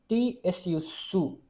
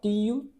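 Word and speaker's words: つ: Uh then here is t su not tu to tsu soup.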